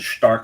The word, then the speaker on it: Stark: Well, I'm saying it Stark because I'm saying it the German way to pronounce it.